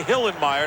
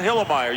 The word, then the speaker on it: Hillenmeyer: i love that guy you gotta say hillenmeyer not hillemeier you can't be lazy in the pronunciation goose it's my kind